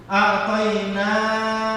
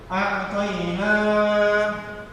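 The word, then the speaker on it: أعطينا: A'tayna, na berarti huruf nun, baca panjang berarti ada alif. A'tayna.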